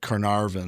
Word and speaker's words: Carnarvon: Shortly after unearthing King Tut, how do you pronounce his name? Carnarvon? Lord Carnarvon.